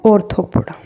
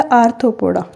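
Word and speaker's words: Arthropoda: यहाँ पे ऑर्डर कौन सा है, ऑर्थोपोडा या आर्थोपोडा, जो भी आपको ठीक लगे, प्रोनाउंसिएशन में कोई दिक्कत नहीं है, आपको याद होना चाहिए, आर्थोपोडा।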